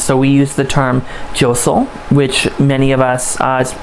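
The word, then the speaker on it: deiseal: So we use the term josel, which many of us, it's sometimes pronounced diosel or josel, is clockwise, also known as sunwise.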